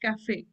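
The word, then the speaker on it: café: CF C but since since the accent is there we pronounce it as Cafe that a sound is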